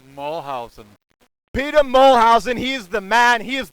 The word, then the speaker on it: Moolhuzien: you please say your last name mulholland Peter mole housen he's the man he is the boss Springsteen